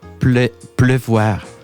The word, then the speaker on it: pleuvoir: Com es pronuncia? La pluie és el La substantiu, però pleuvoir és més complicat. L'infinitiu és pleuvoir.